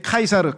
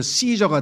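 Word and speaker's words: Caesar: 어쨌거나 첫째 카이사르. 카이사르는 요게 영어의 철자 C 있죠? C C C라고 하는 철자가 라틴어로 발음할 때는 K로 발음이 돼요. 그래서 카이사르가 돼. 그런데 영어로 발음을 하면 s로 발음이 돼. 그래서 시저가 돼.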